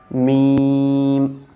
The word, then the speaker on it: م: Mim, your upper and lower lip will connect.